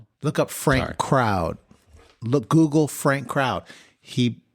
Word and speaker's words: Frank Crowd: Frank Crowd. Frank Crowd. Shout out. That's C R O WD D. Yeah. Like a crowd.